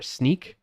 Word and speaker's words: Snyk: Speaking of being able to do that, shout out to my company in leadership that I work for, Sneak. That's spelled SNYK.